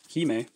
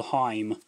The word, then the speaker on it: Hime: Hime. Gotta pronounce it right. I believe the first time I saw that card, I called it Virtual World Heim.